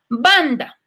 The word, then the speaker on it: banda: Banda es una palabra grave porque tendría el acento o la fuerza la tiene en la penúltima sílaba.